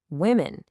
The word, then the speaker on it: women: Because the O is pronounced with an I sound. The same sound as the I in sit or hit.